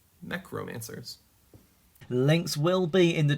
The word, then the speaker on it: Mechromancers: Um, and romancers like mech and romance. Mech romancers.